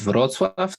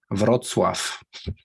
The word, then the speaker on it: Wrocław: The city is called Wrocław. That's southwest. Okay. Like cool. 100 kilometers from German border. How do you pronounce that city again? Wrocław. Cool. Wrocław. Yeah. What do you think you of just this mastered C, which is really hard for English speakers to read in Polish. Yeah.